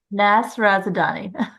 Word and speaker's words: Nasrazadani: It's four syllables. Say it again. Nasrazadani.